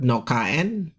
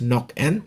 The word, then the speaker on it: Nokaen: Okay, this is not Nokaen, it's Nokaen, pronounced that way.